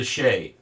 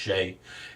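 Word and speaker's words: chaise: people used commonly on the roads is the sheay um spelled Chase but it's pronounced sheay and uh it's a it's a one horse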